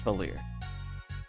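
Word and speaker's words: Valere: Is it Valerie or Valier? How do you Let's see. Valier. Okay, it's Valier. It's French.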